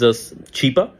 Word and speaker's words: Chipa: A humanitarian, his name is Chipa, Mr. Chipa, and she starts mispronouncing, and she calls him Chupa, and yeah, Chupa is look it up, and that became a meme in itself in Pakistan.